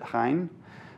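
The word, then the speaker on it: חן: Favor, of course, is a noun, and in the Hebrew, it's H-E-N, I believe they pronounce it Hein, sounds kind of Dutch, But there's another version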